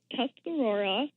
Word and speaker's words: Tuscarora: I got to get that name, that's pronunciation down. We're called the Tuscarora Organic Growers Cooperative.